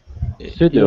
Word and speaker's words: pseudo: Oh, the P is silent. Yes. Pseudo. Mm-hmm. It's similar to other words like psychology, where in English we really don't pronounce that oddball P that comes before an S.